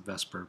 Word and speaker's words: VSEPR: I sometimes pronounce it Vesper, but oh well.